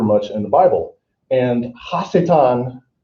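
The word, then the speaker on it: השטן: in the bible and hasetan is the actual hebrew pronunciation and it means adversary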